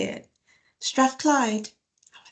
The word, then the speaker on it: Strathclyde: Strathclyde.